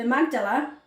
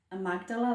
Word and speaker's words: amygdala: And in PTSD, the amygdala, I said it right, amygdala, that's it, becomes overreactive, causing frequent or near constant high levels of stress hormones.